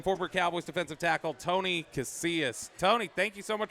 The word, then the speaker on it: Casillas: Casillas.